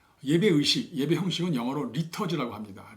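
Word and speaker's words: liturgy: 예배 의식, 예배 형식은 영어로 리터지라고 합니다. 리터지. 영국 사람들은 리터지, 미국 사람들은 리터지라고 하죠.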